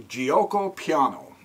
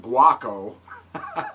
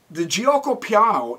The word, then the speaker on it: Giuoco piano: Right now, let me start out with the Giuoco piano. I think that's how you pronounce it. I used to call it guaco, so I call it the guacamole opening.